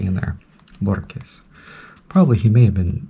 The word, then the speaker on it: Borges: Borges, that's who it is. Borges, but people say Borges, almost like there's a K in there. Borges.